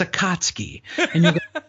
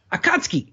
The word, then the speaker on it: Akatsuki: then the director say it's a kotsky akatsuki and then they go no no Akatsuki and I'm like wait